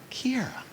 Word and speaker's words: Kiara: It's like Sierra with a K, Kiara.